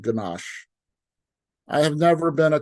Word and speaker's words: ganache: Just say the word, Ganache. It's mandatory to stretch out the SH sound at the end of the word. The phonetic pronunciation of Ganache sounds like Niagara Falls.